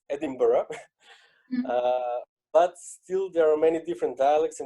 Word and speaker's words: Edinburgh: for people so you hear people say me Edinburgh Edinburgh Edinburgh and different versions so I've been there and I've heard that it's Edinburgh but still there are many different dialects and